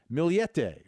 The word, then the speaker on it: Millete: the story of Maya also known as May milete or milet Vinnie this is a real head scratcher milete is how her name is pronounced name's Maya but she goes by May